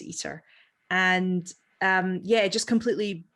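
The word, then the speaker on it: ITER: it um and um i-t-e-r but you pronounce eater and um yeah just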